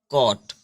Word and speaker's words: caught: ठीक है, तो ये CAUGHT, तो ये GH को हम क्या करेंगे, साइलेंट रखेंगे और केवल यहाँ पे इसको पढ़ेंगे कॉट। क्या पढ़ेंगे, कॉट।